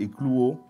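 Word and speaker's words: ekluō: Il a utilisé un terme grec qui est éclouau. Ça s'écrit e k l u o.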